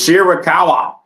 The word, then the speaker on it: Shirakawa: It's Shirakawa.